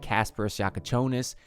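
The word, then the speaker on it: Kasparas Jakučionis: It's going to be fun to see how hours since the Miami Heat officially drafted Casper Shakonis and I've finally learned how to pronounce his name.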